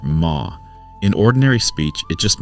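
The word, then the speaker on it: 間: Japanese readers learn to pronounce this character ma.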